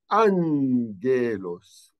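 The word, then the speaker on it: ⲁⲅⲅⲉⲗⲟⲥ: one after the other the first one would be pronounced as an n so we will read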